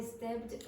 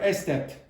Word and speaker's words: stepped: I stepped. I what? Stepped or estepped? Stepped. So this is why English speakers spit all the time.